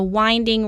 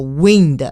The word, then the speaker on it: winding: straight path it's a winding road yeah Whiting is an adjective talking about a road which repeatedly turns uh to different directions so we use uh Whiting don't pronounce uh winged no wind winding next we have volume